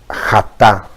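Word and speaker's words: חטא: Bien, en hebreo se dice jatá.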